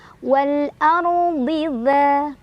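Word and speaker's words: وَالْأَرْضِ: Wal ar, ro-nya dibaca secara tafkhim karena ro sukun sebelumnya ada huruf berbaris fathah. Jadi kalau ro sukun kemudian lihat huruf sebelumnya berbaris fathah dan huruf setelahnya juga ini walaupun huruf isti'la ya, tapi huruf isti'la baris kasroh, jadi ini tetap tebal ya. Ardi ya. Kemudian jadi bacanya ditebalkan. Wal ardi dza mad tabi'i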